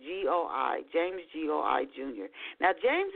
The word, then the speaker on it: Goi: Last name is spelled, in case you're looking for his books, James Goi. So it's Goi, James Goi Jr.